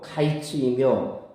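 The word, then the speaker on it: קַיִץ: 여름과일은 히브리어로 카이츠이며 끝은 히브리어로 캐치이므로 이처럼 발음이 비슷한 말 그 말들을 섞어 가면서 뭔가를 표할 때 이거를 언어 유라 그렇게 말합니다.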